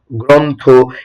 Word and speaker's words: গ্রন্থ: যেমন দেখো এখানে তুমি দেখতে পাচ্ছ গ্রন্থ। এটা আসলে কি? গ্রন্থ। এর উচ্চারণটা কি হবে ভাইয়া?